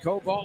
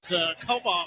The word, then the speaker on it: Kobal: Is it Cobalt? I think so. That's her second. Actually, it's Kobal going to the line here.